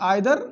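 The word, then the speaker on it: either: pronunciation कई बार इसको ईदर और इसको नीदर पढ़ते हैं कुछ लोग, बट आइदर नाइदर दोनों सही है, और आइदर और नाइदर और ईदर और नीदर दोनों सही होता है, बट हम लोग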